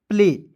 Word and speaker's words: play: उसी प्रकार यहाँ आप देखिए PLAY, तो P से आधा प, LA से होता है ल, और अंतिम में क्या है दोस्तों, य है, मतलब AY है, तो इसका उच्चारण एक एकले के रूप में करेंगे। क्या हो जाएगा, प्ले।